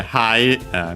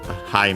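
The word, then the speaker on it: はい: So yeah, hi means yes in Japanese. Accent on the first mora.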